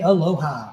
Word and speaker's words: aloha: We say aloha. Picked the best waking up in Hawaii. Here we go. Aloha. Three syllables.